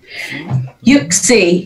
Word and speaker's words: Uxie: Yuxie, yeah.